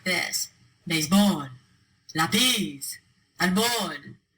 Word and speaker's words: árbol: Béisbol, lápiz, árbol, Gómez. All 4 of those words end in a consonant other than N or S. They should be pronounced with the stress on the last syllable, but they're not.